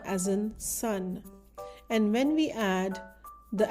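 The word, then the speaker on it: सुन: S as in sun, N as in nest. And when we add the add-on symbol O as in book to S, it makes the sound so. So this word is pronounced as sun.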